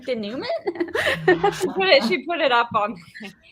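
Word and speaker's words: dénouement: Because it's a French word. It's like denouement or whatever, right?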